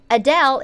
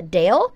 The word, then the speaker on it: Adele: pronounced her name perfectly it's not Adele it's uh Dale but I'll see how